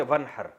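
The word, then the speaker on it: وانحر: हैं अरबी में नहर तो वन असल में था व इन हर पढ़ा जाता है मिला के वन हर तो अलिफ अलिफ साइलेंट हो जाता है वन हर फस सल्ली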